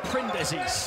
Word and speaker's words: Printezis: We've been schooled on pronunciation by those in the Greek camp. Printezis.